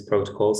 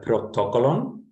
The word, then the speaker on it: protocol: the group but uh protocol i think the emphasis is on the first o and the prefix proto